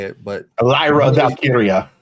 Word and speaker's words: Valkyria: It would lead to another title match between Bayley and, I always pronounce her name wrong, so I'm not going to say it, but Lyra Valkyria. Valkyria, there we go.